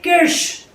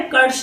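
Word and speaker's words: Kirsch: नाम है रसल ए किर्श। रसल ए किर्श इनका नाम है, कर्श नहीं है, किर्श है। रसल ए किर्श ऐसे ही प्रोनाउंस किया जाता है, ऐसे इनकी डेथ हुई है एक्चुअल में।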